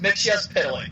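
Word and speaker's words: Mxyzptlk: all first of all first of all it's pronounced mix yes pillock get it right okay thank you beautiful no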